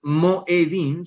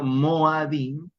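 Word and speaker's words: מוֹעֲדִים: En plural es Moadim, no es Moedim, sino Moadim, Moadim, porque la desinencia plural final, in, Moadim, volatiliza, o les hago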